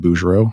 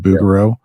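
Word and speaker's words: Bouguereau: know you mentioned uh I pronounce it bero you said bugaro we can fight about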